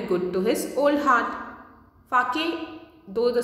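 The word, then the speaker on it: sake: Fake, though the spelling is S-A-K-E, it is pronounced as fake.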